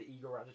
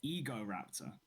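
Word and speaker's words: Egoraptor: And then Is the person who runs the Igor Raptor channel even called Igor? no, it's he pronounces it Ego Raptor.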